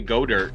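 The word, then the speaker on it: Goedert: i don't know because you can pronounce it goater if you look at it like you could say go dirt and it would make sense yeah i guess yeah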